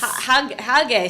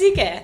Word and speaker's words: Hygge: Hygge, so Sydney's I'm book. saying it wrong. No, I'm not. I'm saying it Australian wise. Yeah, that's Hygge.